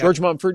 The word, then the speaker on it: George Mumford: because I really don't want to get his name wrong. I believe it's George Mumford. You got it. Yeah. George Mumford.